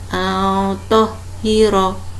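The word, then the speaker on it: طَهِّرَا: Karena kita biasanya membaca ro-nya dibaca pendek. Al-tohiro. Yang benar al-tohiro.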